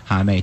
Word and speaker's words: Homme: I feel like rhymes with mommy. Yeah, that's it's a good way. Like mommy and salami.